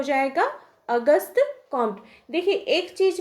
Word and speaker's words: Auguste Comte: से मालूम होना चाहिए हम लोग हर जगह देखें होंगे की अगस्त कंटे या अगस्त या इस प्रकार से बहुत तरह के नाम का हम लोग उच्चारण करते हैं अपने सुविधा के अनुसार लेकिन अगर उनके सही प्रनंसीएशन की बात की जाए तो उनका नाम है अगस्त लेकिन हम लोग उसको